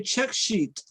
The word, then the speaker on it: check sheet: When you say check sheet, you really have to emphasize sheet, okay?